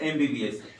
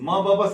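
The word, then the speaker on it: MBBS: बार फिर से एमबीबीएस म ब बस नहीं बोलते हैं क्या बोलते हैं एम बी बी एस और एम क्या चीज से शुरू होता है ए से और ये क्या है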